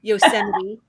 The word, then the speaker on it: Yosemite: national park so we're going to go to yosemite and and i did pronounce that correctly yes yosemite and we're also going to go to kings